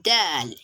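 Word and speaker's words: دال: but the operon stoods so you pronounce del as in dal dal quite similar to letter d like the pronunciation is quite similar to that d but not in all cases as in dal d the way you pronounce d is kind of different when you notice the maghraj the area where the d originates from so that's why i said it's quite similar but not completely similar to letter d that is pronounced as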